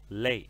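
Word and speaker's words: 泪: que usam o hidrograma lei A Carol disse ainda pronúncia dele me desculpe vamos pronunciar algumas vezes então para redimir lei lei no quarto Tom lei é a primeira palavra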